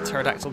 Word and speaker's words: pterodactyl: can't you hear a pterodactyl going to the bathroom because the p is silent that is definitely a